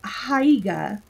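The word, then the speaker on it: Haigha: he only does them when he's happy is hiya he pronounced it's tough to ride it with hair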